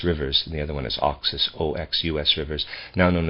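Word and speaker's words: Oxus: india east of the caspian sea around the oxis and jakarta jakartas rivers i think that's how you say that j-a-x-a-r-t-e-s rivers the other one is oxis o-x u-s rivers now known as the amudaria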